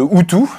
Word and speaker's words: OOTOO: utilisaient c'est en tout cas le Paris de outu Philippe de la fête bonjour bonjour vous êtes